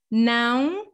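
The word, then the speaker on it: não: another nasal tricky sound the ao with a tilt on top of the a this is like noun again you're not closing completely the lips you're just letting the air flow through your nose okay okay and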